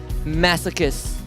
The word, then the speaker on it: masochists: Masochists. Yeah. Wow, you actually pronounced it correct.